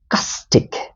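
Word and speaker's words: caustic: going to learn is castic. Castic, right? First uh you need to pronounce ca then stick.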